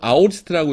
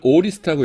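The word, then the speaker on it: aorist: 부정과거는 이건 이제 우리나라에서는 보통 아오리스트라고 읽어요. 아오리스트라고 읽고 그 다음에는 영어에서는 이걸 오리스트라고 읽어요. 영어 사전 여러분들이 A-O-R-I-S-T 찾아보시면은 발음교가 O라고 나옵니다. 그래서 오리스트 이렇게 하는데 그래서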